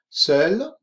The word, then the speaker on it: seul: Quel loisir faites-vous seul ou accompagné? Seul, tanto masculino y femenino, con e final si es femenino, pero la misma pronunciación, seul, en couple, en pareja,